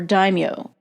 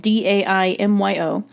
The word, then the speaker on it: daimyo: The warlords, or daimyo, again that's spelled D-A-I-M-Y-O, the daimyo and their samurai warriors often fought between each other.